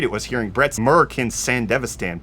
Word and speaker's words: Sandevistan: Sandevistan. That's how they say it in the show.